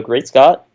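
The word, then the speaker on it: GreatSCT: working with it so great Scot that's that's how you pronounce it or how I pronounce it Chara vested to your great Scot you are the dog native source announce that your product I think even in the the github readme it might say it's pronounced Great Scott or maybe I remove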